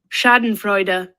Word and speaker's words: Schadenfreude: This is how Google pronounces it. Schadenfreude, Let's try that again.